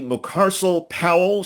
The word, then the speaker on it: Mucarsel-Powell: How do you pronounce Debbie Mucarsel-Powell? She's the Democratic You just did it.